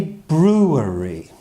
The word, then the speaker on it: brewery: is a brewery a brewery but when we say it quickly we just say brewery brewery brewery can you